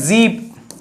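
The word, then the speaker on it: sieben: + 7 तो सेवन को क्या बोलते हैं जीप सेवन को क्या बोलते हैं जीप जीप ओंद आठश ठीक है?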